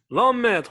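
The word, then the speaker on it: ohmmètre: L'homme maître, voilà, il faut prononcer bien le mot. Il faut dire l'homme maître, ce n'est pas l'homme.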